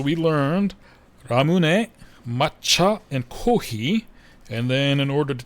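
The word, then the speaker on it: コーヒー: Kohhi is the Japanese pronunciation of coffee. So Japanese kohhi. Yeah, they don't quite have an F sound in the alphabet, I don't think.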